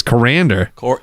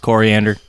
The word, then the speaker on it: coriander: the is Koran decor it's pronounced coriander what is coriander you